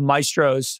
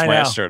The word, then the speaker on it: maestro: that the the word like in American English yeah Maestro Maestro if you're speaking Italian you would say myestro but you're not you don't speak what did